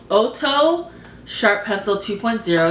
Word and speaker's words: Ohto: So one of them is called Ohto Sharp Pencil 2.0. It's from Japan. And Ohto is spelled O-H-T-O.